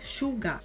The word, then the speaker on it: Suga: A gente romaniza como Suga, mas a pronúncia do nome dele é Suga.